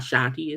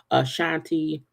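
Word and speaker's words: Ashanti: Doors Down One Direction a Shanti not Shanti is absolutely a Shanti Cena Gomez Blake Shelton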